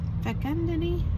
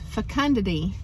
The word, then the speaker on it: fecundity: many things among them fecundini hang on let me see how to say this it's fecundity and so never stop